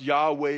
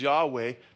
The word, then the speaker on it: Yahweh: tetragramaton which is yhwh which is best pronounced Yahweh or yayah we don't know what the vowels were we have the consonants so if you want it closest you probably get is Yahweh the Hebrew name of